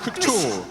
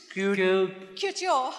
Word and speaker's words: couture: Couture. We struggle. Twist your tongue 2 times and say cute. Couture.